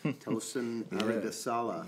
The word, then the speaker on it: Tosin Aribisala: We are here in the Ropeadope Room in East Philadelphia with a special guest, Tosin Aribisala.